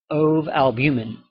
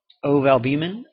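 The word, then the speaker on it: ovalbumin: Oalbuman oalban or oalbummen depending on who you ask.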